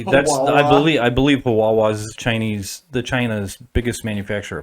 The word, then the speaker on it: Huawei: and everything what's what how do you say the huawei the the chinese brand is here it's not that company though no no i mean like them like yeah yeah it sounds like hawaii i guess but it's